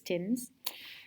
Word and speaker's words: Thames: It's a really cool building on the River Thames, which is spelled Thames, which is confusing, but it's Thames.